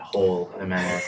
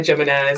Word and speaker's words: Jimenez: Yeah, and I get it, because my first name I pronounce the J, but the second one is Mexican. Yeah, curveball. Jimenez. It's not Whole Jimenez. I've gotten that too.